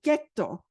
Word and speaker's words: ghetto: in the 16th century, they couldn't pronounce that soft G sound, the J sound. So they brought their guttural German accent, and getto, which means iron casting, to cast, getto in Italian became ghetto amongst these the German migrants to the